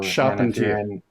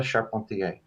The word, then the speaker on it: Charpentier: Charpentier. So, Charpentier. And if you're in Canada, Charpentier.